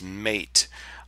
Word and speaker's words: MATE: tons of comments that the correct pronunciation is mate um and normally I really don't care what the language police have to say but just so that you know where I'm getting the pronunciation this is on the projects homepage and if you come down to the bottom tells you the name mate pronounced mate comes from yerba mate a species